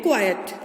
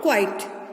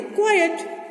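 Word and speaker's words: quiet: हम क्या बोलते हैं इसको हम प्रोनाउंस करते हैं क्वाइट नॉट क्वाइट इसको हम क्या बोलते हैं क्वाइट ध्यान रखिएगा इसको क्वाइट नहीं बोलना इसको बोलना है क्वाइट चलिए अब इनको समझ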